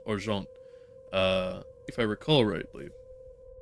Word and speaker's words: Argent: that is actually the well more accurately pronounced arant uh if I recall